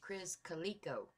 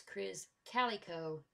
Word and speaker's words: Krizz Kaliko: was mispronouncing it, that he pronounces it like Cali, like California, and that they said that was a commonly mispronounced name. So it's Krizz Kaliko Immortal.